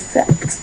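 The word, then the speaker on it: sept: So I know there's a P there and we may want to say set. No, it is not set. It's not say it's not anything like that. It's set.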